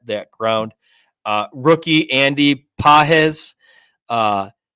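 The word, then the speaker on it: Pages: ground uh rookie Andy pahz uh you like how I pronounced it similar I think I got it right now you nailed it but his defense sucks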